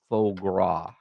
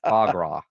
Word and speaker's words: foie gras: With faux gras. Faux gras. Is that how you say it? Foie gras.